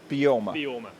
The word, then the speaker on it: Beorma: Alex Simpson, I am the founder and managing director of Beorma Leather Company. Excellent. And how do I pronounce it? Beorma.